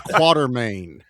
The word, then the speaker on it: Quatermain: It's Quatermain. It's not quarter. It's Quatermain. Yeah, there's an extra R he threw into it all the time, and they just got